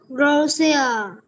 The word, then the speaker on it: Russia: Russia is the biggest country, but Australia is bigger than the UK. Đúng rồi, chính xác ha. Cái từ này mình sẽ đọc là Russia, không phải là Russia,